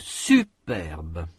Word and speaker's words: superbe: Une fille superbe. Il y a un accent sur la première syllabe de superbe. Cet accent est surtout marqué par l'intensité. La syllabe est prononcée avec une plus grande intensité.